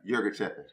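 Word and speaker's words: Yirgacheffe: Is it Euro giraffe? Yerga Chepe.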